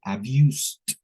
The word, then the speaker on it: abused: la misma forma miren es como que se comen la e omiten el sonido de la e y lo demás pronuncian exagerando un poquito al último el sonido de la d como t ya así Esa es